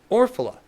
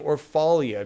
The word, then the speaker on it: Orphala: not many Matt orphala I used to pronounce his name orphalia because I had no idea and then I watched a video where he spoke and he pronounced his name and it's or orphala like oh well [